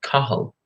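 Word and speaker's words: Cathal: on the screen hopefully my name is spelled CA th al but the pronunciation is actually Carl something kind of strange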